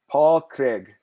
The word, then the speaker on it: Paul Craig: Paul Craig.